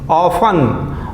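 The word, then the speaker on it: often: देखिए अक्सर बहुदा बार-बार ऑफ ऑफ इसमें टी साइलेंट है ऑफ ठीक है एडवर्ब है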